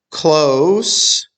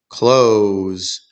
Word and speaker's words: close: Close sounds like dose, near. Close sounds like shows, to shut. So close means near, close means to shut.